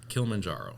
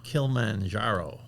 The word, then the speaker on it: Kilimanjaro: Am I pronouncing that right? Kilimanjaro. Kilimanjaro.